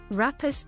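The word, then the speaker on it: Rhapis: Rapus palm. Rapus, okay, rapus. Rapus palm. The correct pronunciation is rapus.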